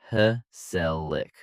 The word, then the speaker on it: gezellig: The word is gezellig, pronounced heh-sell-ick.